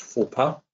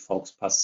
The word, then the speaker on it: Fauxpas: Das Wort ist Fauxpas. Geschrieben Fauxpas. Das wird ungefähr so ausgesprochen. Wenn ich jetzt keine Aussprache angeben würde, würde Dragon von mir verlangen, dass ich Faux Pass sage.